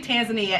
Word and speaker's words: Tanzania: And it's actually Tanzania, and I'm going to tell you why. So in 1964, they took the two countries of the mainland of Tanganyika and the country of Zanzibar, and they united them. So the mainland of Tanganyika, they took the TAN from Tanganyika and the ZAN from Zanzibar and united them into Tan and Zan.